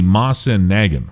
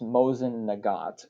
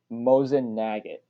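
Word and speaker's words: Mosin–Nagant: Guns like the Mosin Nagin would do just fine, although It's pronounced Mosin Nagant, but I can see why somebody not in the firearms community would get that wrong.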